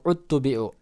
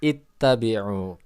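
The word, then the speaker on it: اتَّبِعُوا: At-tabi'u, ittabi'u, atau uttubi'u. Dalam ilmu tajwid, ketika memulai alif wasol itu, lihat huruf ketiganya. Ketika huruf ketiganya fathah ataupun kasroh, maka alifnya menjadi kasroh. Jadi bacanya ittabi'u.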